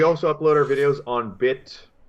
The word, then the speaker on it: BitChute: Yeah, so we also upload our videos on BitChute. It's like a laundry chute, not like a gun chute.